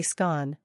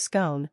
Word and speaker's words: scone: In the north and Scotland, people often say scone, rhyming with gone, while in the south, it's pronounced scone, rhyming with stone.